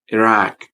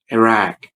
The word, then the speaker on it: Iraq: Don't say Iraq or Iraq because they're wrong. We need to use the it sound and ah sound, so it would be like this: Iraq, Iraq.